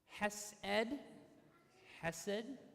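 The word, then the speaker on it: חסד: so the first one is Yahweh which is pronounced Yahweh you say that Yahweh okay that's number one the second one is hesid has said okay and then the last one is Yeshua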